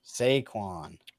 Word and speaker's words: Saquon: Saquon.